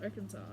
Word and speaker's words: Arkansas: Ar Arkansas must be pronounced arans. I mean, that's how it's pronounced. Arkansas.